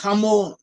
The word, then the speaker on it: Hamor: In Hebrew it's pronounced as Hamor, in English it's written as Hamor, and Hamor was the father of Shechem.